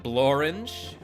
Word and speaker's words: Blorange: And Blorange. Rhymes with orange.